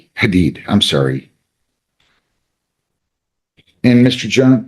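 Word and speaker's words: Hadied: H A D I E D and it's it's pronounced hated Hadid. Hadid.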